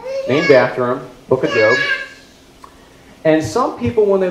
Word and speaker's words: Job: J-O-B, looks like Job, pronounced Job.